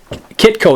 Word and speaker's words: Khytko: Khytko is how you say it.